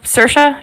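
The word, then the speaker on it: Saoirse: part of like a sersa sersa did I say that right I can never say her name you got it nice yeah doesn't love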